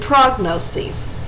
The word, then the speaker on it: prognoses: There is also a pronunciation difference. In the singular, notice that they end in is, and they are pronounced diagnosis and prognosis. In the plural, the is at the end is changed to es, and they're pronounced diagnoses and prognoses.